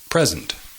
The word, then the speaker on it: present: iberos cases for example the noun present significa regalo present the emphasis is on the first syllable present present present significa